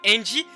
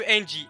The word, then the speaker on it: Ange: Eva, you know who Angie is. Why didn't you kill Angie? What? Okay, it's like how you pronounce angel. Angel. Just angel without the L.